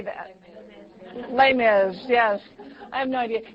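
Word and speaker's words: Les Mis: Broadway play I have no idea how to pronounce it? Lay miserable. How do you How do you say that? Lay miz.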